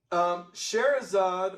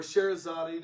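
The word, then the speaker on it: Scheherazade: tales okay um anyway sharazzad or sharazadi depending on how you say it was actually this beautiful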